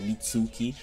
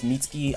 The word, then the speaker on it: Mitsuki: mitsuki or mitski like I know a lot of people always like oh it's not mitsuki but I was just pronouncing it how it looks you know mitsuki but it's mitki I guess that's what everybody keeps telling me to say but uh mitski basically